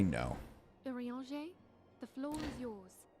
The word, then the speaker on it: Urianger: Urianger, the floor is yours. Now I know how to say his name. Urianger. Urianger. As all here I called him your anger.